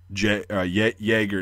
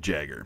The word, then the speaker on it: Jäger: But they'll still pronounce you, or jeez, they'll still understand you if you pronounce it like Jäger instead of Jagger. It's not Mick Jagger, even though his name, like the roots, probably came from the German word Jäger.